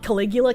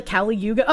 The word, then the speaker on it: Kali Yuga: Also not how you pronounce it. Not Caligula, Kali Yuga.